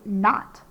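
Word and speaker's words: knot: the next word is not you tie a not in the jump ropes so we have k n another o and not t so it's the word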